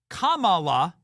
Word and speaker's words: Kamala: Kamala is the correct way to pronounce her name.